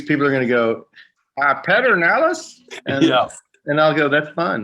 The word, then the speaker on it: Pedernales: Who would take PED and call it Pedernales? I mean, that's crazy.